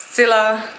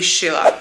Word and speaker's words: Scilla: you can see there I feel like pronounced it always different Sila Chila we found out that the correct should be Sheila the drive there was